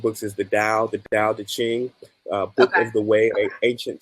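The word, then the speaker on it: Tao Te Ching: book ever written um the dial that's spelled with the t a o t c h i n g um so I'd say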